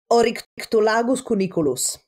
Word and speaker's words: Oryctolagus cuniculus: And is actually reflected in their own sort of taxonomical name, which is a mouthful to pronounce, the scientific name for rabbits is... You can do it. Oryctolagus cuniculus.